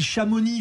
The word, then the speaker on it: Chamonix: par exemple des villes Chamonix faut pas prononcer le X mais si il est